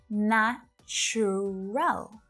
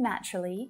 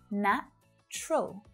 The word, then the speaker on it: natural: for that at all it looks like there should be three right na churrel nacho roll but when spoken naturally native speakers usually reduce the pronunciation of this word down to just two syllables na troll natural natural